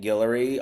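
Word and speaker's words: Guillory: Um, so yes, you can find me Gillery on all social media platforms and my last name is spelled G U I L L O R Y.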